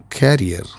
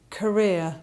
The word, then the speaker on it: Career: Very often we pronounce this word as carrier, but it should be pronounced as Career.